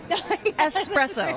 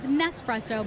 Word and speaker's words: espresso: Espresso. Very true. Thank goodness. This is very true. I saw an interview the other day where someone said they thought it was Nespresso, but no, it is espresso.